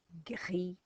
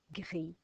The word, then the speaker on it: gris: And g, i, gris, gris is grey.